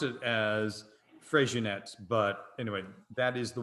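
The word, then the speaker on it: Freixenet: regionette uh f-r-e-i-x-e-n-e-t so you might not have pronounced it as fresh units but anyway that is the one so the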